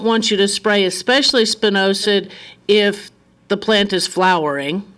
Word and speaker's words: spinosad: The chemical, I've heard three different ways to pronounce it. Spinosad, spinosad, spimosid.